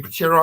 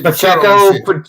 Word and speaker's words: Pacheco: The ground game was okay with I always pronounce his name wrong. How you pronounce his name? Pachero? How you pronounce his name? Obviously, this shit wrong. Pachinko. Obviously, Pacheco. Yeah, Pacheco. Yeah, that's what it is.